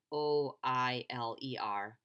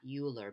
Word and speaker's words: Euler: It's pronounced like Oiler, not Euler, but Euler.